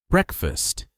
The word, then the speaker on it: breakfast: Breakfast lost the second syllable. Breakfast. This is normal in fast English.